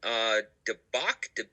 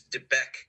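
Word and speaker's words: De Beque: your handlebars going through, help me with the pronunciation, Debach? I believe this is Debec Canyon.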